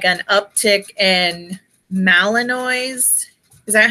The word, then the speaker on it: Malinois: And like all these people, like here lately, I've been seeing like an uptick in Malinois. Is that how you say it? The German, Malinois?